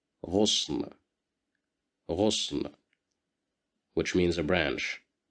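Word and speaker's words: غصن: Here we have Dhamma at the top of the letter Ghain, so we will pronounce it as Ghu, Ghusn, Ghusn, Ghusn, which means a branch.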